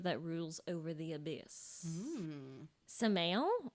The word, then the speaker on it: Samael: rules over the abuse samael or samael which means the venom of god i looked it up out of all of the youtube pronunciation clips i watched it was not samuel okay well that's good